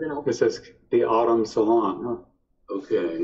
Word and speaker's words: Automne: This is the Autumn Salon, huh? Okay. It's spelled like AUTOMNE.